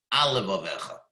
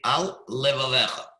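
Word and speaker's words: על לבבך: That would be wrong. Al levavecha, it sounds like one word. So you'd read it, al levavecha. You just made a brief pause after al levavecha. That's the proper way to say it.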